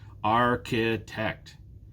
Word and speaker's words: architect: stressed banker banker now what about architect this one's different there are three syllables architect which one is stressed architect again it's the first one athlete athlete there are